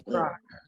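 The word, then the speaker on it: יפרח: So the cheh at the end is not silent then. You're supposed to pronounce it. Absolutely. Yifrach.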